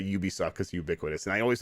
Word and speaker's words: Ubisoft: the two words there it's ubiquitous software that's why it's pronounced ubisoft so okay what's the